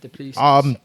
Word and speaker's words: Du Plessis: Massive Robert Whittaker fan, but I do think Duplessis is a good fighter. Is that how you say it, Duplessis?